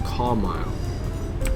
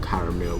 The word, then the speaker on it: Carmyle: Central as I said our next station is car mile yes I think that's how you say it's not caramel whoa I said first